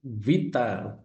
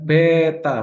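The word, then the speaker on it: βήτα: Jadi vita ee bukan beta, bukan B yo, bukan. Jadi Vita. Nah, itu kalau dalam bahasa Inggrisnya seperti V seperti V.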